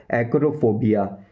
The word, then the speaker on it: acrophobia: और जो professional English language में आप बोल सकते हो एक्रोफोबिया। एक्रोफोबिया, एक्रोफोबिया, एक्रोफोबिया, एक्रोफोबिया।